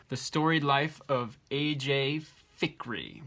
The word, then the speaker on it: Fikry: Fikry, which I've been pronouncing Filkry because I thought there was an L, and there's not one.